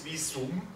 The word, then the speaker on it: Visum: In German it's Visum. It's an U.